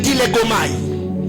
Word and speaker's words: dilegomai: Il faut faire le dilegomai. Dis à ton voisin dilegomai. Dilegomai, c'est un mot grec qui veut seulement dire créer un dialogue. Dilegomai. Dilegomai qui s'écrit comme je le dis, hein, D-I-L-E-G-O-M-A-I.